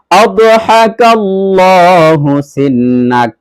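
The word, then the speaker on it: أضحك الله سنك: লামটা মোটা করে উচ্চারণ করতে হবে। আর আদহা, এখানে যে হার উচ্চারণটা রয়েছে এই হাটা বড় হা, অর্থাৎ হলকের মধ্যখান থেকে প্রেসার দিয়ে উচ্চারণ করতে হবে এইভাবে, আদহাকাল্লাহু।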